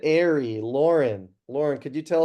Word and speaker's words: Aerie: Who said airy?